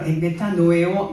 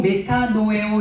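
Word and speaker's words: μετανοέω: 회개요 회개라는 말은 어 원어로 보면 메타노에오 헬라 말로 메타노에오 요런 발음을 하는데요 메타노에오 회계는 누스 스라는 단어에서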